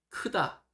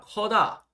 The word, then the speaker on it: 크다: 쓰다, 서다, 크다, 커요. 이거를 이제 크다가 아니라 커다, 커다 이렇게 말씀하시면 애들이 굉장히 혼란스럽습니다. 네.